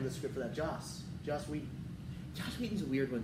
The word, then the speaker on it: Whedon: It's a different spelling and everything. Yeah, I know, but it's Wheaton. It's pronounced the same way. Yeah, it's hilarious. Anyways, but that's what I was thinking about. Joss Whedon.